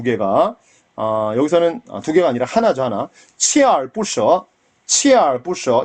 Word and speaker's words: 锲而不舍: 하나 锲而不舍锲而不舍 이건 치에라고 읽습니다.